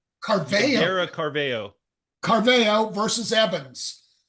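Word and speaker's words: Caraveo: How do you pronounce her name? Her last name? Carveo. Carveo.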